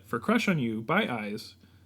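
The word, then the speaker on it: IZ: So I will share my idea for Crush on You by Eyes. I keep saying it. I-Z. I-Z. Eyes. Pronounced eyes.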